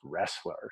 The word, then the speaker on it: Roesler: that name was because my last name is pronounced wrestler sumo wrestler no that's